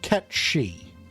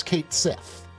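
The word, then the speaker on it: Cait Sìth: Or a character that some of you might be more familiar with, whose name is actually pronounced Ketshi. You might recognize them from the Final Fantasy series. And know them as Kate Sith.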